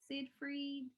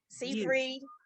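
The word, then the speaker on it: Seyfried: go to amanda um how do you say her last name said frank skye fried cyphery sid free yeah that one see free but you know what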